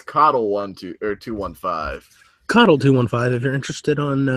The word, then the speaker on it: Coddle: That's not Cuddle215. That's Coddle215.